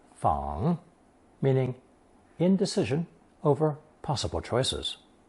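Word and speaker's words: 彷: Today's 4th new character, based on fang, added the partial crossroads radical, making another 3rd tone fang, meaning indecision over possible choices.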